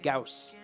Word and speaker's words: Gauss: The only one that does, I think, is the Gauss.